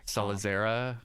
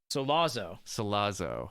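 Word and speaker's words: Sollozzo: Salazar? Yeah, Salazar. What a sinister sounding name. Is that what his name was? It's Salazar or something. Solazo. Okay. I added a few extra syllables.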